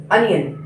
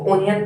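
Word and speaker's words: onion: अनियन कृष्णावल, कई बच्चे इसको ओनियन पढ़ते हैं, लेकिन इसका जो आप प्रोनाउंस देखें तो इसको इंग्लिश में अनियन कहा जाता है।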